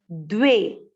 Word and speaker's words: द्वे: इच्छा, च और छ दोनों एकदम सही से प्रोनाउंसिएशन करना है। इच्छा। द्वे, द्वे का अर्थ क्या हुआ?